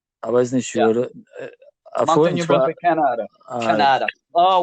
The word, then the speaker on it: Moncton: How do you pronounce the town? Moncton. Right. I wasn't sure. Yeah. Moncton, New Brunswick, Canada.